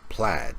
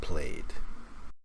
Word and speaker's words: plaid: like this and also it's pronounced plaid not played well I can't say